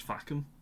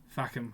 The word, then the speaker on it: Facombe: It is pronounced Fackham. Fackham, okay, Fackham.